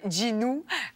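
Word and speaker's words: Jinu: plus du monde mais c'est Ginu J I N U mais qui prononce Ginou mais ça faisait beaucoup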